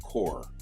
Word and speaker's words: corps: Corps is spelled C-O-R-P-S, and it's a French word. We borrowed it. But it's pronounced core, C-O-R-E.